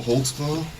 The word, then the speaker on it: Holtzclaw: there cuz I don't even know how to spell it how do you say your name holtzclaw holtzclaw what is that it's a German speak